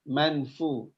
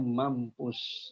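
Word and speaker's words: مَنْفُوش: Jadi dibacanya kal ihnil manfu, ya, manfu. Nah, untuk membaca ikhfa di sini ada yang membaca dengan manfu, ya, bukan mang. Jadi bukan eng, ya, tapi samar-samar, suara nun matinya samar-samar.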